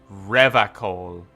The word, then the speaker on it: Revachol: He pronounces Revachol with a hard K, unlike other people. Revachol.